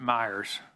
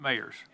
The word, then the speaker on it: Mayers: Is it Myers? It's Mayers. It rhymes with Mr. Jones's title.